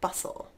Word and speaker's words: bustle: a couple more letters the silent T is next with hustle and bustle there's no T in there it's not hostile and bustle its hustle and bustle great next one Christmas